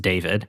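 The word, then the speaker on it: d4vd: It's pronounced David.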